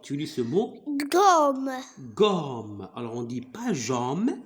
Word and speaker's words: gomme: Pourquoi ici la lettre G se prononce comme G? Pourquoi? Parce qu'on a mis devant G la lettre ou bien la voyelle O.